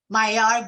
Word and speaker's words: Mahyar: Pretend there's no H in the first or the last name. Mahyar.